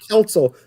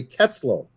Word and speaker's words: Kelso: right like chris kelso i know it's council but i have to stop because i keep wanting to say ketzlo because i knew a